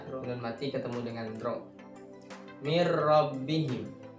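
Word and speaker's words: مِنْ رَبِّهِمْ: mati ketemu dengan rok mirrobbihim jadi cara bacanya bukan Min rabbihim tapi dimasukkan roknya dimasukkan ke huruf nun tanpa berdengung Jadi dibacanya Agak jelas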